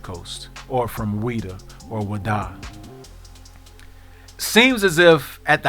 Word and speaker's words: Ouida: shop in this town named Ouida, pronounced by the locals as Wada.